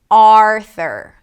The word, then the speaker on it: Arthur: Arthur. Primary stress is on the first syllable - AR-thur.